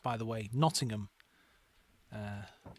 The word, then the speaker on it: Nottingham: Nottingham. Uh, not Nottingham. I know it's it's uh tricky because you see the word ham at the end and you think, "Oh, okay.